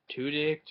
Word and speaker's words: Tudyk: no, no notable actor, Alan Tuck or Tu Tudyk.